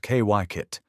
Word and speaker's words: Kykuit: To understand Kykuit, pronounced Kykuit, you have to understand what it was never meant to be.